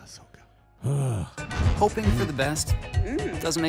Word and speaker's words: Ahsoka: but yeah okay Ahsoka stop saying it wrong Ahsoka hoping for the best doesn't dreams come true